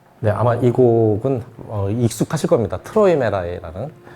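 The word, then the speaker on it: Träumerei: 아마이 곡은 익숙하실 겁니다 트로이메라이는 예 트로이 메리라고 하는 사람이 많아요 발음 정확히 하셔야 돼요 트로이 메라이 메아리 하고는 상관없어요네 이분 머리 이렇게 예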